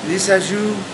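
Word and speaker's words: Lissajous: Depends on if you're French or not, but it looks like it's spelled Lazacious or something like that. Right. But it's Lisajou. It's French, so Bordeaux.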